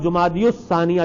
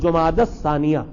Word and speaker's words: جمادی الثانیہ: کے نام بھی ہے، اور اردو میں انہیں جمادی الاولیٰ اور جمادی الثانیہ، جمادی الاولیٰ اور جمادی الثانیہ کہا جاتا ہے، لیکن صحیح تلفظ ہے جماد الاولیٰ اور جماد الثانیہ.